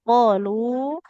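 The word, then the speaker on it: قالوا: Qof dengan lam lebih panjang huruf huruf lamnya. Qolu qof-nya dua harakat lamnya minimal empat harakat.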